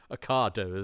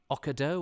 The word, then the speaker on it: Ocado: he terribly middle class talking about the different ways of pronouncing a cardo the the Wake was there wasn't it now now marks and Spencer's delivery service um but I'm sure we had one at Christmas where the man called it okado or so he certainly called it something that wasn't a cardo it certainly wasn't the